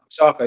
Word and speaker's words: Chaka: Shaka. Yeah, that's Yeah, it. Which Chaka. is weirdly enough, it's like Shaka but it's spelled with a CH instead Yeah, of an Chaka.